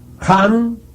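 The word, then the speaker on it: Ham: en forma sólo ahora jan escribe con las letras h y m sanz se escribe con las letras s a h la h tienen suena siempre como j la inhalación se hace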